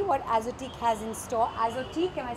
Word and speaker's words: Azotiique: Azotique, am I saying it correctly? That's right. That's the correct pronunciation.